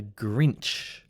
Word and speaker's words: grinch: him or her a grinch let's go through the pronunciation because it's a bit tricky so we have a consonant cluster a g cluster gr gr gr then we have the sound inch so if we put